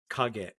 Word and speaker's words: Kage: Wait, so what's the second syllable? Is it a G-E-T? Is there K-A-G-E. Kage. Oh, okay, got it. So there's no T at the end.